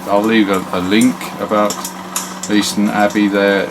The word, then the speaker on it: Leiston: Leiston Abbey, we would pronounce it there, and it's basically a beautiful